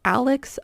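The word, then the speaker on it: Alix: It's called Alex of Bohemia. If you're just listening and you're not watching, Alex is spelled A-L-I-X.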